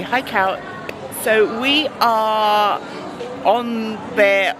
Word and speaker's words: Haikou: Got to pronounce it rightly. Hi, Cow.